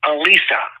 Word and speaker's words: Alyssa: And her name is Alisa. It's spelled as Alyssa, but she pronounced it as Alisa.